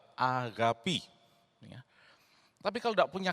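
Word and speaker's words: ἀγάπη: kasih dari agapi, ya, populernya dikatakan agape, tapi cara baca yang benar adalah agapi.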